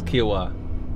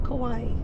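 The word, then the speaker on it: Kiawah: not said anything yet what is kiwa not kawaii it's not quite yeah we learned that it's not pronounced kawaii kia was like this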